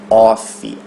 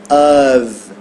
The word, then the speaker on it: of: ave sofreu uma redução Lembrando que o f a gente pronuncia com o som de ver ok e não off ave ave E aí o